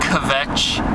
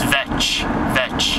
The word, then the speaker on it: kvetch: a little bit about, actually it's not kvetch. I say that accidentally from time to time. It's a Jewish word meaning, or not Jewish, Yiddish word meaning bitch, to complain. It's vetch, the K is silent.